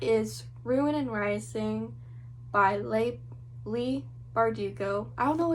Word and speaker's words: Leigh: that's her first name i thought it was lay but ben barnes pronounced it as lee so because ben barnes said lee i say lee but we might both be completely wrong uh this is actually